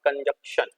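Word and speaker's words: conjunction: और इसकी स्पेलिंग बहुत बच्चे गलत लिखते हैं sir, that's called कंजंक्शन, नॉट कंजक्शन, कंजंक्शन।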